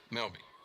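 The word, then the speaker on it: Melba: The Graves family are watching from Melby tonight. Here's the 2-1 pitch. Swing and a miss. And only if you're from Lamar County would you know to pronounce M-E-L-B-A, Melby.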